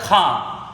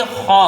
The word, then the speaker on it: خا: بھی کیا ہوتا ہے، اس کو پڑھ دیا جاتا ہے کھا، کھا جو پڑھا جاتا ہے وہ اردو کا تلفظ ہے یہ کھا، اور کھا کیسے بنتا ہے، کاف اور ہا کو ملا کے کھا بناتی ہے، لیکن عربی میں یہ خا ہوتا ہے۔ اب خا سے جب